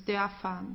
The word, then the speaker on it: Dörfer: So I hope you remember that what you have to do here is just to pronounce the R like an A. So it's Dörfer. Okay, it's not Dörfer or Dörfer. Dörfer.